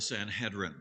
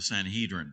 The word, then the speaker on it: Sanhedrin: And so we have the trial of Jesus, and it starts in front of this body called the Sanhedrin, or the Sanhedrin, depending upon how you want to pronounce it.